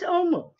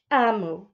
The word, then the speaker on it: Omu: Now, I thought it was Omu. I opened it up, and there is a note to the reader. Amu is how it's pronounced, and it is a term meaning queen in the Igbo language.